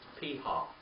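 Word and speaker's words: פִּיהָ: Piha.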